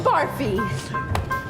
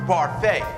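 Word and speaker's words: Barfée: William barfi it's pronounced parfait there's an accent thank you I'm not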